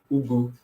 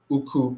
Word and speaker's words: ugu: I was just practicing pronouncing the regular Nigerian vegetable, ugu, right? Ugu, UGU. And I ended up saying uku, uku till I got it and started saying ugu.